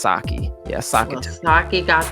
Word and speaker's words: Psaki: Okay, Psaki to me. Psaki, but I think it's Saki.